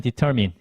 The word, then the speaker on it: determine: 우리가 생각하는 그 발음이 아닐 수 있어요. mine 이거 아니고요. chase 이거 아니고 그 다음에 기간틱이라고 있는 친구들이 있는데 요거 아닙니다. 그래서 실제로 이제 얘가 듣기에서는 determine, 그 다음에 purchase, 그 다음에 gigantic 이렇게 이제 발음이 되기 때문에 실제로 보는